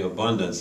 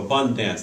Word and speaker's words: AbunDANCE: First of all, the abundance, and may I please make sure people know that the word dance is in that. You know, I just think tend to pronounce it AbunDANCE.